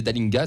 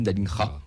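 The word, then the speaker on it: Dallinga: Écoute, on disait Dalinga, ça se dit Dalingra.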